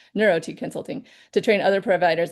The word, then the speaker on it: NeurOT: NeurOT, thank you. I was like, I'm not sure I'm saying that right. NeurOT Consulting to train other providers in the holistic mindset that defines her practice.